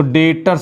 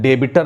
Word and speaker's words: debtors: डेटर्स हो जाएंगे तो डेटर्स हो जाएंगे आपको बी को साइलेंट करना है डेबिटर नहीं पढ़ना है डेटर्स पढ़ना है तो डेटर्स बन गए